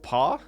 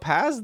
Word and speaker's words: Pas: see this is true it means not in French it's pronounced paw oh why does everyone call it Paz then so it's PAW normal Studios so not